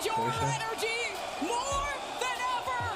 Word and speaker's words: Porsche: Porsche. More than ever. I know most people say Porsche, but like how it's actually pronounced.